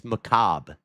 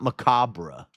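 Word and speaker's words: macabre: It's Macob. It's not Macabra.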